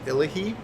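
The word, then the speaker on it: Illahe: like they're other languages this winery is pronounced illa he ella he is in the Willamette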